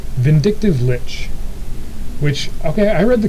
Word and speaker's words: Lich: But, if you think about it for just a minute, what's something that rhymes with Lich and also is vindictive?